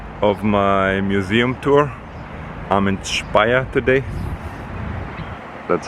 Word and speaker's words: Speyer: it's day one of my Museum tour I'm Inspire today that's how it's pronounced oh and that is how it's spelled